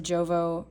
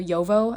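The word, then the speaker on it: Jowo: Like, obviously this is a Jovo, or Yovo, I think is how you say it, Yovo number 6 nib, I believe.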